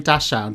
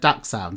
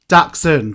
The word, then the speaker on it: Dachshund: So, I'm saying Dashound, but you've said Daxound. So, is it Daxound? Daxshund. Daxund. So, I want to make sure I say it right. So, Daxund. It's a bit of a German German word, isn't it?